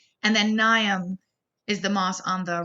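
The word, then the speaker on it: Mnium: is Politico and then nyam is the moss on the right the M is silent and so it kind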